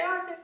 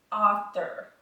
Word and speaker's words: author: of it, which is author. There's only one R, and it's at the end, but I'll be doggone if I don't want to say illustrator and author all day long.